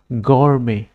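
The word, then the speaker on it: gourmet: green colour আছে ইয়ার উপর stress ডিপ্লাই এটু উচ্চারণ করা হয় গ্রিন লেটার নিজ ও ইউ আর এমইটি গরমে গরমে প্রনাউন্স এ গরমে বলি প্রনাউন্স করা হয়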